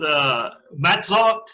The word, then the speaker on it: Matzot: It's titled Matzot and Reshit. The Feast of Unleavened Bread. And the way Reshit is spelled, you all understand why I turned that over to Harold.